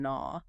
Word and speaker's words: gnaw: like knife, night, and gnaw. With the silent K and G. Yes. Hundreds of years ago, the initial K and G in those words were fully pronounced.